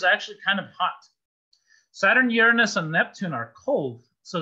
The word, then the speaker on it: Uranus: By the way, the original pronunciation is Uranus. The modern pronunciation is Uranus.